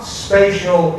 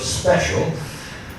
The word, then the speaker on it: spatial: Now, not spatial in the Texas pronunciation of special, but spatial as in location on the Earth's surface.